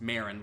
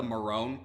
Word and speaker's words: Marin: the ex-girlfriend's name was pronounced Marin, like Marin Krillin's daughter. So I'm guessing that the Marone pronunciation was done just